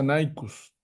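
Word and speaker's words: Nyhus: eso se utiliza más se pronuncia naus naus y se usa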